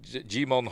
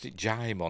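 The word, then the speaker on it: Djimon: There we get to look at Jimon Honsu. Or is it Jaimon? Dean Devlin pronounced it Jaimon. I've always pronounced it Jimon.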